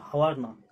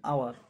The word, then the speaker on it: hour: D, she arrived dash hour later, এটা হাওয়ার না, H টা সাইলেন্ট, এটা উচ্চারণটা হয় আওয়ার, HOUR, আওয়ার, এখানে N হবে, ঠিক আছে।